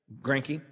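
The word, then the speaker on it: Greinke: astros pitcher zach greinicke is that right i'm pronouncing his name right cranky yeah grinky yep he says he likes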